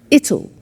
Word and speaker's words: it'll: cold you notice how it will becomes ital it'll strange pronunciation yes so tomorrow it'll be cold it'll